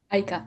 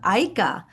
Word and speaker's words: Aika: who is founder and CEO of is it pronounced IKA Aika Aika Aika Enterprises uh and she's also an author.